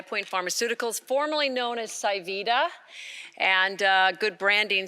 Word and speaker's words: pSivida: Pharmaceuticals formerly known as sy Vita and good branding says it's a little hard to remember a name when the P is silent so we changed the